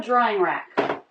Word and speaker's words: drying rack: Now instead of ER, we have an ING ending. Drying. Drying. A smooth transition between syllables, no break. Drying. Rack. Tight circle for the beginning R. Then lots of jaw drop.